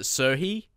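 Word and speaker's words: Serhiy: series, how to say, Serhi Krivstov. You pronounce it Serhi. Serhi, you don't pronounce the G, so I'll keep that in mind from now.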